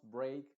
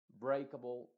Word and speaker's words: break: en esta palabras entonces la e a eh se va a pronunciar como ei en este caso la e obviamente está haciendo muda y la a se está pronunciando con el sonido e que es el sonido original de la a luego en palabras por